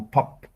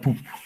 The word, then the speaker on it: pub: This is the difference between a pub. Bebidas y escucha música. Yes. Wait a moment. Dictionary. Pub, the pronunciation, no? It's not poop. Pub.